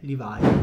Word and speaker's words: Levi: Levis Però ovviamente l'imprenditore Il nome dell'imprenditore è livai Mentre gli altri cercavano loro nelle miniere lui